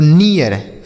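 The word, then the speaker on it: near: लेकिन इसी इ ए के बाद अगर आर लिखा हो तो इसका उच्चारण इ हो जाता है। क्या हो जाता है मेरे भाई? इ ए। जैसे हमने पढ़ा रीड तो रियर बीट तो बियर हीट तो हियर नीट तो नियर फीट फियर पीक पीियर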